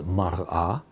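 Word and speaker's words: מַרְאָה: So mirror is mar'ah, appearance is mar'eh.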